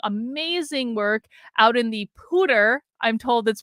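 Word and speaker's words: Poudre: has been doing amazing work out in the pooter I'm told that's pronounced School District in Colorado and and she's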